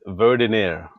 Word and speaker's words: Verdiner: It's Verdiner. Yes. Welcome to the Walt Weekly, Reynolds, Verdiner.